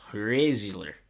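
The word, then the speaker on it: Hræzlyr: It's spelled HR, and then one of those connected A and E's, and then ZLYR. So Hrazler.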